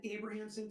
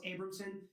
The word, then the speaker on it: Abramson: I keep want to say Melendez and I said Abrahamson throughout the whole trial. It's Abramson.